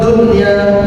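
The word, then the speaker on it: دنيا: Kalau idgham wajib berarti cara membacanya bukan dunia, bukan, tapi dunia. Paham ya? Nah, selama ini saya yakin panjenengan membaca fiddini wad dunya, saya yakin bisa jadi karena sering mendengar itu.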